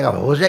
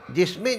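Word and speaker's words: José: जगह का नाम है सं जोजे लेकिन उसकी स्पेलिंग लिखी होजे तो मैंने होजे नहीं नहीं महाराज इसको जोसे कहा जाता लगा हुआ वो तो कहते महाराज एच इसमें उच्चारण ज की तरह किया जाता है तो अब ये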